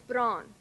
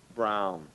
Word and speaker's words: brown: wha wha wha wha no brow commonly mispronounced and now he's brown now it's brawn now he's brown now it's brown now it's brown now it's brown people tend to have not a big enough opening for the number five